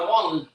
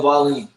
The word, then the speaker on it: Wallin: The real Dillian White better not sleep on my Wallen. He better not sleep on Wallen. Who we got winning the fight? Otto Wallin. I said the same thing. I said it wrong. Wallin.